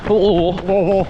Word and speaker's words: Louisville: Correct pronunciation of Louisville is very guttural. Louisville.